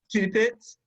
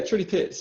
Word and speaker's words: Trudy Pitts: Judy Pitts? Yeah, Trudy Pitts.